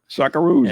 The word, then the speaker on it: Socceroos: doctor curse s-o-c-c-e-r-o-o-s how do you say that socceroos okay sockaroos and which doctor i have no tolerance for